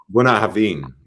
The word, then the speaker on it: Bunnahabhain: Okay, Bunnahabhain. Bunnahabhain. He jumps up again. All right. Drop the H. Drop the H. H. H. Buna haveen. Buna haveen. Yeah, buna haveen. No, you're not dropping the H enough.